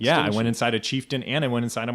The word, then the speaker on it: Chieftain: I mean, well, Chieftain was from the '60s, but still, I thought it was Shefton for a long time. It's actually Chieftain.